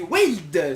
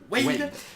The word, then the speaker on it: Wailed: Aujourd'hui, là c'est Wade, si je prononce bien, il m'a expliqué comment prononcer. Wade, Qui va nous jouer apparemment un deck rigolo, un deck fun.